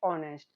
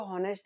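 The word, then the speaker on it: honest: फिर ऑनेस्ट, ऑनेस्ट इसको हॉनेस्ट नहीं बोलते, इसमें भी एच क्या होता है, साइलेंट होता है।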